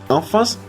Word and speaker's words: enfants: Enfants no, porque la S no se pronuncia.